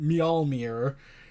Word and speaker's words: Mjolnir: I finally managed to pronounce it, Mjolnir.